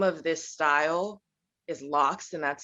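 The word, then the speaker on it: locs: general so the name of this style is lox and that's spelled l-o-c-s my hair unfortunately it is a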